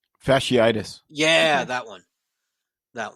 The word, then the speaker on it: fasciitis: I can never pronounce it right. Fastilia. Fasciitis.